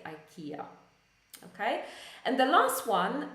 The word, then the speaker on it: IKEA: it's a Swedish company I don't know how they pronounce it in Sweden I would say probably Ikea or something something similar but when we pronounce it in English we don't say it we say Ikea okay and the last